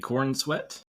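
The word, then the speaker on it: Corenswet: The Superman guy, David Cornsweet, looks like Superman. That's how it's pronounced.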